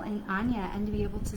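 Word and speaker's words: Áine: It says Ain, A-I-N-E, but she's actually pronounced Anya.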